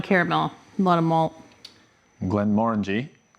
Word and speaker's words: Glenmorangie: Glenmorangie, pronounced Morangie, as if you're saying orange, known for having the tallest necks in Speyside.